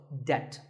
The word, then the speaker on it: debt: The B is silent in this word, so debt.